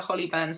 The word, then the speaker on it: Hollyburn: the Sewaholic Hollyburn skirt, as I kept mispronouncing it last week. It is the Hollyburn skirt.